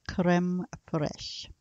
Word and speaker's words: crème fraîche: you were entertained as well let's talk about creme fraiche creme fraiche I'm gonna spell that for you and it is CRE M e F Rai CH e but it is pronounced Karem koresh that's similar to sour cream and while sour